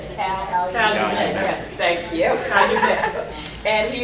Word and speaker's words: Calumet: And he's also with the Calumet Project for, and I always get to pronounce that wrong, for those of you from Gary. How do you say it? Calumet.